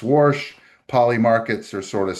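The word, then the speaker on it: Warsh: and then you got Kevin Worsh, I think you'd pronounce his name. Worsh, like my grandmother used to pronounce doing the laundry.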